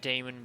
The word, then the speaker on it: daemon: banui i'm the cutest damon money because i have horns you see the horns i'm a damon i know it's demon i like pronouncing the a because done the goofball